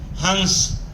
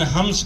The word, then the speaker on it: हंस: जिसने मुझे ही बनाया हंस कहीं कहीं उसका उच्चारण हंस करते हैं ना की जगह मा बोलते हैं ऐसा अनुस्वार उच्चरित होता है हम लोग हंस ही कहते हैं हिंदी वाले तो हंस